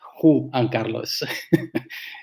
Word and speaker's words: Juan Carlos: It's funny because it's like you're saying number one, and it's Who, like the Who, the music group. So that's the way to pronounce it. Juan Carlos.